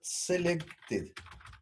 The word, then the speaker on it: selected: Que nos indica si el usuario marcó la casilla de verificación, es la propiedad selected. Selected sería, ¿sí? Se pronuncia con es casi una I, la última E.